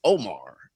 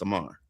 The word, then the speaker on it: Omar: I don't you know, it's here it's just Omar. Omar and it's if you if you meet a Korean person it's Amar.